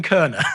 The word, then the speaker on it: Koerner: I am Robin Kerner. So if you're Googling it, it's If You Can Keep It, Kerner. And Kerner is spelled Koerner.